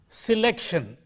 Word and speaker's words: selection: you will notice that the stress mark is on this syllable what does this mean it simply means that in this word out of the three syllables which are see lick and shun this syllable the second syllable has to stand out from the other syllables in